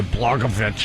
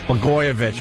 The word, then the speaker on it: Blagojevich: That governor in Illinois, Blagojevich, or Blagojevich? Blagojevich, right.